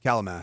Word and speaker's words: Kalamath: Is it Kalamath or Klamath? Kalamath.